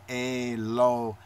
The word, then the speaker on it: Elohim: The Cholem next to the Lamed makes the low sound in the Elohim.